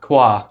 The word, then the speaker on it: Kwa: But your book, is it, and you'd have to help me with the pronunciation, but The House of... Kwa. Kwa. Okay, perfect.